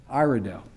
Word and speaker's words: Iredell: And am I pronouncing right, Iredell? Iredell.